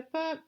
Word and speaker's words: peux: So, je peux, P-E-U-X, rhymes with je veux. So, you just change that first letter.